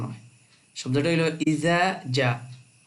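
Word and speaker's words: إِذَا: উচ্চারণ হয় শব্দ হল ইজ ইজা শব্দটা লাম্বা হইব এক আলিফ জালের সাথে আলিফ আছে জাতিলানি মধ্যে মুত্তাস নাসরুল্লাহ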